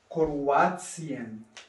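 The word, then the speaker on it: Kroatien: Here T-I-A-N am Ende eines Wortes kann manchmal als Zien ausgesprochen. هلا في عندك T-I-A-N لما بيجوا كمان بهالطريقة هاي ممكن انك تقولون بتسين تسين موتسيون تسين مثل كرواتسيان كرواتسيان كرواتيا كرواتسيان كرواتسيان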